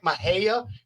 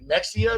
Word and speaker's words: Mexia: I know it's so annoying when people just like Mahia, people pronounce it Mexia.